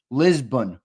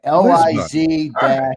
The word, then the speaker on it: Lisbon: It's pronounced Lisbon, by the way. LIZ-BUN.